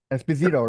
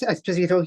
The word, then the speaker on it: Esposito: how do you say your last name espito right yes espito yes sir I have Esposito on my